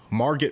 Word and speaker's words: Margot: So Margot Robbie, who is stereotypical Barbie. I think her name is Margot. I thought it was Oh, so it's just spelled with a T.